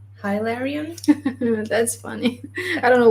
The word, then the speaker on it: Hilarion: of his name but he would say ilarion that's how he's pronouncing it but again it might